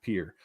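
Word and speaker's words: Pierre: anunciation Mr Marshall um that's how it's pronounced in South Dakota as God intended where we pronounce our Capital Pier um those guys came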